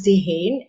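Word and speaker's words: Dehaene: is terrible at this point uh but charles de gene and it's spelt d-e-h-a-e-n-e um and they're a very sort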